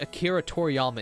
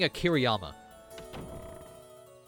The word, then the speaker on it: Akira Toriyama: I keep combining Akira Toriyama into one word, though, when I say his name. I keep saying Akiriyama. I think it's just because it's easier to say that way.